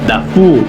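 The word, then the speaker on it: 大夫: de la transliteración de taifu sama siendo taifu pronunciada dafu en chino una palabra usada para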